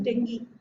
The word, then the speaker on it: dengue: But remember, actually I called it dengue, but actually the pronunciation is dengue.